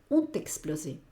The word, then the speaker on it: ont explosé: Vale, les prix sont explosés, fíjate que aquí yo hago una unión. No se trata de correr, se trata simplemente on y luego meto aquí la T, t'explosé. Y luego lo que hago es seguido, on t'explosé.